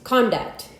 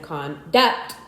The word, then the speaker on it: conduct: Some 24 two-syllable words in English are stressed on the first syllable. If used as nouns, however, if used as verbs, these same words are usually stressed on the second syllable.